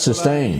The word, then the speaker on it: Systane: They're doing a, how do you pronounce Systane. it? That's Systane.